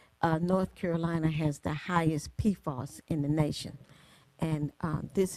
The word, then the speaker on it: PFAS: for the Federal Legislative Conference, and I knew that PFAS is spelled P-F-A-S, and each letter stands for something. But everybody call it PFAS.